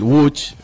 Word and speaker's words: Łódź: Bueno, porque el Łódź, que es como se pronunciaría en polaco, la ciudad de Łódź, es una ciudad de la era postindustrial.